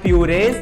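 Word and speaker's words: Purez: for heavy whipping cream is this brand called purees uh you spell it as p-u-r-e-z one problem is okay for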